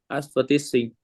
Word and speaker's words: advertising: I don't know why advertising companies create them. Luis, say this word again, please. It's a long I sound.